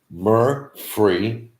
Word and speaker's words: Murfreesboro: It's correctly pronounced Murfreesboro.